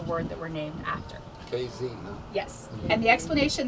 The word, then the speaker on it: Casey: call you out if they hear you say Casey. We are KZ. We are 2 letters that are not in the spelling of the word that we're named after. KZ, huh?